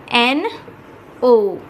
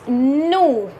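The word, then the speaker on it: nous: will fill this with n o u s which becomes no in french it is no in french the pronunciation is no and the meaning is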